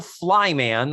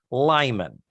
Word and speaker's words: Lyman: Stewie Lyman introduced as it's not the Flyman or Flyman, it's Stewie Lyman.